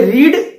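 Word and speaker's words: read: सो पापा have you रेड newspaper और not, have you रेड, रेड वो कलर वाला रेड नहीं, ठीक है, यहां पे रीड रेड रेड होता है, क्योंकि हमें थर्ड फॉर्म यूज करना है, तो फर्स्ट फॉर्म रीड होता है, second and third form रेड होता है।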